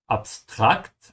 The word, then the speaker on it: abstrakt: Notice here the difference in pronunciation, even though the two words look almost the same. The difference is in the rhythm and which A you stretch. So, abstract, I'm stretching the second A in German.